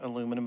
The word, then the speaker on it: aluminum: something with titanium and aluminum and vanadium, because that's the main space-age alloy. I mean, aluminium, not aluminum. I used the degraded American version, aluminum. I don't add extra syllables.